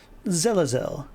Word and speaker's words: Zazelle: your name Young One zazelle rhymes with I'd very much like a bowl of that zazelle you clarify jutting your